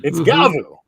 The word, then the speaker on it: Gavv: It's like I'm pronouncing it the way the katakana is. It's Gavu.